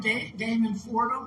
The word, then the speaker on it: Damon Fordham: I just met him, Damon Fordham.